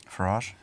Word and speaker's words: Farage: Farage. Farage. I think we should have that guy. Farage. It rhymes with garage.